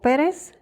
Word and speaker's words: Pérez: Le dieron el nombre de Fares o Pérez, se pronuncia así también en inglés.